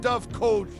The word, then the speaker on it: dovecote: It's pronounced Dovecote, ya slack-jawed ninnies.